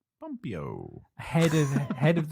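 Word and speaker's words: Pompeo: quote from is it Mike Pompey Pompeii the I can't pronounce it p-o-m-p-e-o pompio ahead of the head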